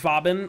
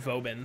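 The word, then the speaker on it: Vauban: frame so yeah see I always pronounce it bobbing but everyone else again I've ever met his set it boban so I guess lazy you're probably right no see some see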